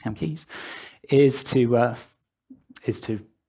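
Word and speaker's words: CAmkES: is no alternative here whilst using camcode cam Keys I've been told it sounds pronounced chem Keys is to uh is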